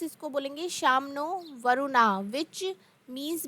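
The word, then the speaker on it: no Varuna: Indian navy contains the motto some नो वरुणा pronounce इसको बोलेंगे नो वरुणा वच means B ऑस्पी शियस टू अस ओ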